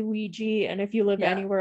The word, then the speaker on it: Ouija: But some people pronounce it Ouija. I don't know. I don't like it. I feel like Ouija. That's probably just kind of how it started out. and that's how it's written. But over time, people have started saying it Ouija. Yeah. And that almost becomes more the accepted pronunciation, you know, because it's more common.